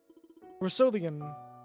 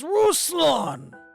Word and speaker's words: Ruslan: his name was Roselyn russelian bad whatever Mussolini Rubicon why are you catching my name wrong I was deceived like also seriously it's Ruslan king of Glee